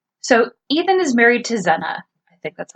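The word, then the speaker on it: Zeena: So Ethan is married to Zena. I think that's how you say it. Zena?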